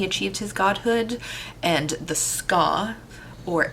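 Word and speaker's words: skaa: his godhood and the ska or s-k-a-a i don't know that that's pronounced ska but that's how i pronounce it um they're a slave-like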